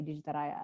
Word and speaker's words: Digitaraya: Well, I try to say it so that you can kind of hear how it's spelled, like Digitaraya. Yeah, because in Indonesia, like we'd say Digitaraya.